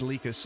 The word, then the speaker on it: Likas: I still think that DLJ sounds cooler, but I do know that it's Likas is how you say that.